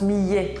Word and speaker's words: millet: change c'est juste fou donc bref ça se prononce Millet d'accord je dirais hier